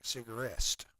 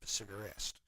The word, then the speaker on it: Cigarest: pronouncing it right, but it looks like Cigarest. It's like cigar and est, Cigarest.